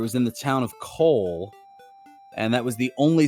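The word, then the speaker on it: Kol: on the game and I heard you say Cole I say Cole but another pronouncement more of like a call well there are so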